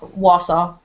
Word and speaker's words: Wausau: Wausau.